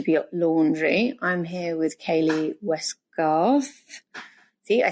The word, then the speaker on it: Kayleigh Westgarth: Tales From to be laundry I'm here with Kaylee westcar see I said it right welcome to the